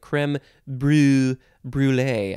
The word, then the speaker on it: crème brûlée: Next is crème brûlée. You could also do that sort of fancy French thing, crème brûlée. I can't do it so good.